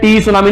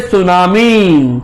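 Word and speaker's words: tsunami: टी तो silent रहता है, टी सुनामी नहीं बोलते, इट इज ए सुनामी।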